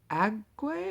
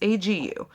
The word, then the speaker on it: Agu: This book is about three individuals, Adaora, Anthony, and Agwe. I think that's how you say it. I'm pretty Agu, A-G, because it's A-G-U. And so I'm pretty sure it's pronounced Agu.